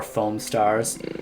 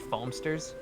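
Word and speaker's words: Foamstars: fun sketches play more foam Stars I mean I don't know do you have uh do you have Splatoon at home actually it's pronounced foamsters play as a foamster you do have a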